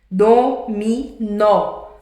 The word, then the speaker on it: dominó: Dominó, a última sílaba é a mais forte, não é? Não é o nó.